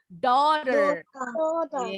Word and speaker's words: daughter: Yes, bacanya jadi O. Daughter.